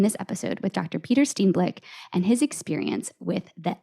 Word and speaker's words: Steenblik: Today, we are talking to my friend and fellow choir director, Peter Steenblik.